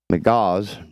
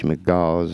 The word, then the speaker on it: McGaugh: McGaugh's, M-C-G-A-U-G-H, McGaugh's, I guess that's how it's pronounced, first bought the 3-bedroom, 2-bathroom house for $350,000 in April with plans to convert it into an Airbnb.